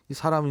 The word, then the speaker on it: ISA: 그래서 이 연말을 업계에서는 이제 이사 처리다, ISA 처리다 이렇게 부르기도 합니다. 그래서 ISA를 이사라고 발음하는군요.